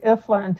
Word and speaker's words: Ifland: It's Ifland, just like it's spelled Ifland.